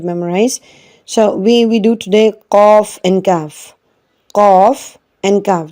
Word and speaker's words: qaf: Qaf, the first qaf which has two dots, they are called haruf lahwiya. If you see to the pronunciation, the blue box, it is written pronounced from the root of the tongue and the soft part of the palate.